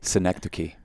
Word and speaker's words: Synecdoche: Did we agree to Synecdoche, New York, starring Philip Seymour Hoffman?